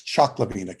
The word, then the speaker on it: Cioclovina: It's Choclovina Cave, but it's spelled Cioclovina, Choclovina Cave.